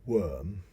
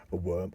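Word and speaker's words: wyrm: then you know but that was a worm or i think that's pronounced sometimes w y r m but as far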